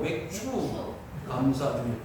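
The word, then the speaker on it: 맥추감사주일: 발음을 잘해야 돼요. 맥주가 아니고 맥주 감사주의.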